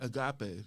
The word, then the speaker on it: Agape: how you pronounce that it's called Agape Agape a g a p e oh okay cuz I thought youing a soccer player oh my gosh I Ain it's Greek so there are three types